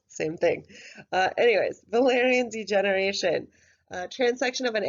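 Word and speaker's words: Wallerian: is the concept of Valyrian degeneration yes the W is pronounced like a V hi dr. Kotov KO TI w same thing anyways Valerians degeneration trans section of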